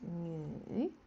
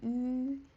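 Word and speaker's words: 女: This one is nü. But the pronunciation is slightly tricky. Like we say nü. So, nü is female.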